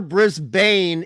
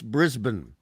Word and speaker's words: Brisbane: Melbourne Melbourne and and it's never brisban it's Brisbane brisb Brisbane I got Brisbane